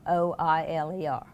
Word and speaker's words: Euler: How do you spell that? Jack Euler. Oiler.